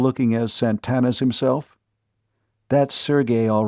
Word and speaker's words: Sergey: she'd been playfully pinched Sergey you mean Sergey pvic the fiend of Florence she pronounced the name properly Sergey instead of Serge as too many people were prone to do sounds like the same